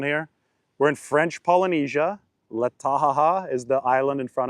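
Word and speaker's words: Taha'a: It sounds like I'm laughing.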